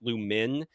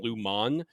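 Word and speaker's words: Lumon: m o n though everyone kind of pronounces it Lumin rather than Luman um even though it's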